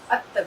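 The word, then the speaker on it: الطويل: चूंकि आप जानते हैं कि यह एक शम्सी अक्षर है, इसलिए 'लाम' ध्वनि का उच्चारण नहीं किया जाएगा, और अलिफ़ सीधे 'ता' से जुड़ जाएगा, जिसके परिणामस्वरूप 'अत' बनेगा , और 'ता' पर तशदीद होगा।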